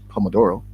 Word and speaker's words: Pomodoro: You were close with the pronunciation. It's actually Pomodoro.